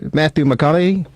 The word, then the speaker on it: Matthew McConaughey: But the great actor, Matthew McConaughey, is that how you say it?